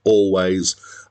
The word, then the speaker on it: Alvvays: band is written alveaise with two v's in the middle but apparently it's pronounced always and they spelled it